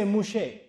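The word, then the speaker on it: משה: moose on me and they don't say Musa in Hebrew they say mouche so tore out to Moosa they said torok mouche that's how they pronounce it I said what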